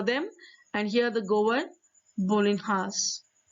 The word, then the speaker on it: bolinhas: and here the govern bolinhas bolinas is the other pronunciation for the bread now page number 87